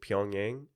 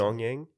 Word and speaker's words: Pyongyang: only place that has lights is was it Pyongyang is the capital city? I don't know. Is that how you say it? I think so. Pyongyang.